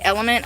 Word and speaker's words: LMNT: So that's why those element, it's called LMNT, element, I think it's pronounced. I'm probably wrong. That's how I pronounce it, because LMNT, element. Listen, that dyslexia, man.